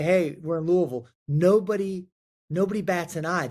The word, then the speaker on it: Louisville: do you pronounce it say it like you've just swallowed the bourbon uh and it's Louisville Lille Louisville Louisville that's